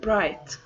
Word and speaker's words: bright: of all the word bright right right the he H is silent okay so bright means